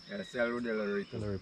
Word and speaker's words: Cerro del Aripo: So the proper pronunciation is Cerro Del Aripo.